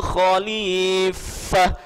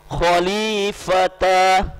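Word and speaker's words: خليفة: inni ja'ilun fil ardi khalifah. Tidak boleh kita membaca khalifata, salah.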